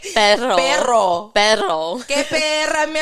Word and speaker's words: perro: Like I can say pero. But it doesn't roll No. as much, you know? no, say it right. No. You didn't say it right. Perro.